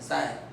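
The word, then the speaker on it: χ: इसे डिनोट किया जाता है साइज, CHI बोला जाता है, हम लोग X बोल देते हैं, वैसे इसका रियल प्रोनाउंसिएशन चाय है, साय, सही है।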